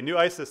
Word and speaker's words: Newisys: Platinum sponsors, New Isis, is that the correct pronunciation? Anybody here from New Isis? Did I get it right? Okay, New Isis, thank you.